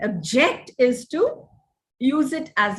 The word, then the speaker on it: object: known as functional accent now you accent the word on the first syllable you use it as a noun accent it on the second syllable it is used as a verb this is a beautiful object john may object to the rearrangement object is to use